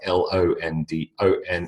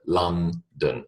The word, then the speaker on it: London: was born in is London it is not London okay no matter what it looks like l o n d o n it is not o o it is a London London all right Sydney Sydney